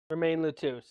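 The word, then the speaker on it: Romein LeTouse: Roman Remy Letos remain lutus. That's how they pronounce it.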